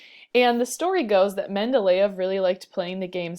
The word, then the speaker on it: Mendeleev: So this guy over here, his name looks like Mendeleev, but it's pronounced Mendeleev.